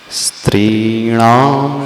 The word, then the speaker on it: स्त्रीणां: पहले शब्द का उच्चारण करना स्त्री, त्रिणाम, आधा स है, दंती स है। स्त्रीणाम शतानि शतशो जनयन्ति पुत्रान्।